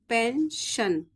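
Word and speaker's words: pension: आएगा पी ई एन एस आई ओ एन पेंशन ठीक है क्लियर हो गया तो चलिए मैं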